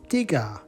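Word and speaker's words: tiga: Dua Dua Dua the word for three is tiger tiger tiger four is empath empath empath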